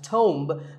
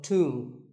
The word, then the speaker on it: tomb: It's often wrongly pronounced as tomb, but the B is silent and the O is pronounced with an oo sound. So, tomb.